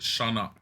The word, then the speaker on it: Sionek: He pronounces it Shanok.